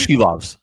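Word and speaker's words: Silovs: so this means vgk will be facing arur s loes right did I say his name correctly she loves she loves okay she loves Aiden Hill will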